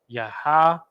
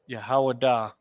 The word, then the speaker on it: Yahawada: And the name is pronounced in ancient Hebrew as Yahawada. Yahawada. Yahawada.